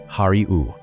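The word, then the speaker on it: הָרִיעוּ: It is the imperative verb hariu. You pronounce it just as it looks.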